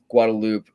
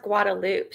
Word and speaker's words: Guadalupe: It's weird how it's pronounced Guadaloop, too. Huh? Like a loop, right? Even though it's like it's written Guadalupe, like that's how you would read it. But at least in Texas, we say Guadaloop.